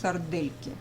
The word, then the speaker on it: сардельки: What you see is written sardelki, de, but we don't pronounce it soft de, we pronounce sardelki.